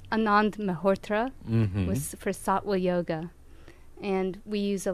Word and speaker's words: Sattva: you teach sativa yoga satwa satwa satwa sa t t VA but the V is pronounced as a w of course it is right okay